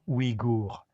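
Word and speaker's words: Ouïghour: Le gouvernement chinois avait l'intention de stériliser 80 % des 6 millions de femmes igour. Et ça s'écrit o i g h o u r.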